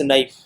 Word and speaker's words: knife: and another word है हमारे पास knife, KNIFE, knife, जो कि प्रोनाउंस किया जाता था KUHNIFE.